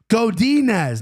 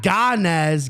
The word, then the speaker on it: Godinez: chirping at me and says it's godinez not Goddess get it right sorry